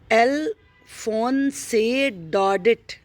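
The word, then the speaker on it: Alphonse Daudet: अल्फोंसे डॉडेट, इसे याद कर लीजिए, अल्फोंसे डॉडेट, ऐसे प्रोनाउंसिएशन ठीक से लर्न कर लीजिए।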